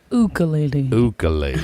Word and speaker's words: ukulele: have to say this, Ukulele. player. He Yeah. would correct you. He would correct you if you said it wrong. Yeah. And it is ukulele.